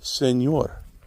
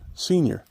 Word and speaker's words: Señor: Because when he was here, the Mexican population, the Mexican people, called him El Señor, and he would pronounce it Senior.